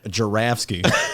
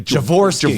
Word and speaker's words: Joravsky: Are they going to spell it like what does Sue Garza call me? Joravsky. No, she calls me Javorsky.